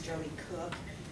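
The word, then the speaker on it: Koch: Hi, my name's Jody Cook, and it's spelled kind of funny. It's K-O-C-H, not like it sounds.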